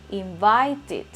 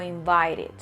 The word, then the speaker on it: invited: Si digo invite, ese último sonido, ojo, sonido, es T, entonces debo decir invited o invited.